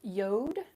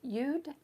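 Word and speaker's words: יוד: Um, some people pronounce it yod, some people it yud, um, or something in between, but it is the hand.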